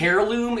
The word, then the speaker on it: heirloom: Oh, a heirloom. It's always not hair, like hair.